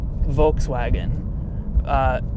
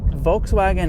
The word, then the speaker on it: Volkswagen: how do you pronounce Volkswagen well the V is actually an F sound in German so Volkswagen and then the the